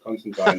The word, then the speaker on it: Constantine: about this he's so it's Constantine and the way I remember that is it it rhymes with malign because he's a so Constantine rhymes with malign um